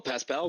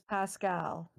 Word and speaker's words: Pascal: Well, well, Pas pal, we still going to the church, I guess.